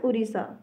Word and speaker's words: उड़ीसा: हिंदी का चीज़ है, जो ड के नीचे ये बिंदी वाली चीज़ आ जाती है ना, तो इट is pronounced as raw, that's why we write it एज उड़ीसा, ठीक है।